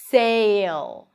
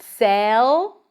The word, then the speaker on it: sale: Vacation sale. Not sell. That's a different word. Sell. Sale.